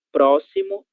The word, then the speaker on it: próximo: E a letra X também terá som de S em alguns casos, certo?